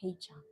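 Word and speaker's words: 黑茶: In Chinese, we pronounce as heicha.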